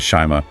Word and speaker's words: Shyama: They feature a llama in these thick-rimmed, nerdy chic glasses, with a speech bubble that gently reminds the recipient that Shyama rhymes with llama.